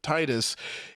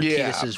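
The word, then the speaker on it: Tidus: in the like Tetus pronunciation and why it's pronounced Tetus instead of Titus.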